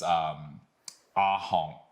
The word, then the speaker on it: ahong: Another bird is ahong. Ahong. Yeah, good. And it has that nasal sound at the end.